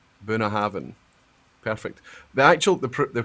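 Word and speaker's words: Bunnahabhain: BH so you know the BH in binhaven is a v so Bina Haven perfect the actual the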